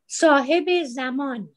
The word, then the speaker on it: Sahabi Zaman: Nasreen, how do you pronounce it? Sahab Zaman? Yes, Sahabi Zaman.